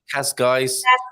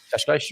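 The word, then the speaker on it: Cascais: They say Kashkais. So if you have an S and then not a vowel, but a consonant sound after, then you're going to have a sh sound. Kashkash. I've been saying it right, I believe.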